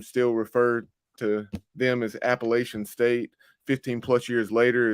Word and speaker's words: Appalachian: in the know told me like no it's Appalachian so I I've said that for a long